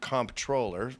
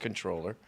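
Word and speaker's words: comptroller: Well, they pronounce it comproller, but it's pronounced controller.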